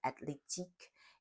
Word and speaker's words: athlétique: Whenever you have a TH word in French, like athlétique, it's pronounced as a regular T sound.